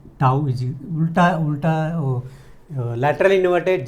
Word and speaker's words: tau: Tau is उल्टा lateral inverted j लिखने का, okay.